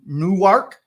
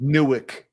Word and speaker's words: Newark: So if you're from New Jersey, Travis, it's Newark. Newark is how you pronounce it, but Newark if you're from New Jersey.